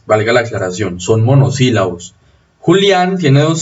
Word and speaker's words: Julián: Pero Julián sí lleva tilde. Porque hay dos sílabas, primero, y segundo, porque eso la convierte en una palabra aguda terminada en N.